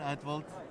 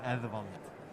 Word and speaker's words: Eðvald: It's not printed here, but it's a special kind of D in the Icelandic language, right? It is called an F. F. The way I pronounce it is Eðvald. Eðvald. Like a soft TH sound.